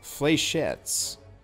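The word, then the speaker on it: fléchettes: vote which integration thing is already existent it's pronounced flechettes huh righty-o well I could use this but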